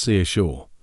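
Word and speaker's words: Saoirse: It's spelled S O I R E and is pronounced seashore.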